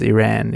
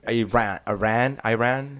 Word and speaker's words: Iran: And if I was to say it the way that I always say it, which is Iran, even though that's not the right way to say it. I represent my country and my people really horribly. So I'm from Iran. But how do you say it for real? Iran, not Iran.